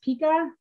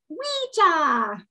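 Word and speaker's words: wicce: And although it looks like it would be pronounced pika, the way that you actually say it is weecha.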